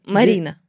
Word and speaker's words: Marina: How do you pronounce it? It's Marina or Marina or how? Marina.